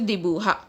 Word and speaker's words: dibuja: Draw means dibuja. Draw means dibuja in Spanish. J is pronounced as H in Spanish, so it is pronounced as dibuja.